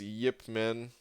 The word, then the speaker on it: Ip Man: you say that again is it Yip Man or it Minh hold on I haven't seen those movies Cantonese it is Yip Man Ip Man was probably results of